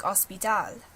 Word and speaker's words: hospital: Catalan, Portuguese, and French, you don't pronounce the H. So it sounds like hospital. Hospital and hospitale is very similar. So you can see how that evolved. It's just the spelling. It was never pronounced with the H in these languages. The H is silent.